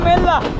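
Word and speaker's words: Ella: এক প্রকার বরি ওয়েলকাম এল্লা আমরা ইল্লাল্লা স্টেশনে পৌঁছায় গেলাম এবং এই স্টেশনটা দেখুন কত সুন্দর এন্ড ওয়েলকাম এইযে এলই ডবল এল এটার উচ্চারণ ইল্লা এখানকার মানুষ বলে এলা এরকম একটা ব্যাপার ওকে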